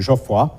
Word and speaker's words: Geoffroy: - father Jeffrey will use the French pronunciation Geoffroy to distinguish him from real-life ethnographer M.W.D Jeffrey's also important for these stories and a friend of the Le Clézio family.